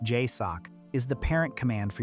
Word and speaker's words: JSOC: The Joint Special Operations Command, JSOC, pronounced Jay-Sock, is the parent command for United States Tier One direct action units.